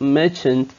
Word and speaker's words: merchant: on its own, but because it's part of a word, it's the ending syllable of merchant, so it's gonna be the sound is gonna be schwa. So merchant, a merchant.